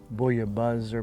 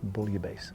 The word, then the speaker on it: bouillabaisse: in in the french if there's two s's it's not the z sound it's the hard s sound so you might hear some people say buoy a buzzer bullier base or i think proper